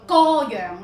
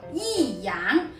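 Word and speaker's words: 弋阳: 是不是骤眼看以为是读歌阳呢？看清楚一点，歌壁的歌是有一撇，而这个字是无一撇，普通话读依阳，粵語讀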